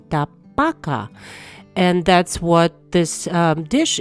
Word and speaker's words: tabaka: pan for that and the correct pronunciation of this dish is actually chicken Tabaka and that's what this